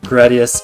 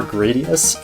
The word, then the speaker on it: Gradius: Turns out the proper pronunciation of Gradius is the way I'm saying it right now, and that weird way I was saying it before, Gradius, yeah, it's a lie.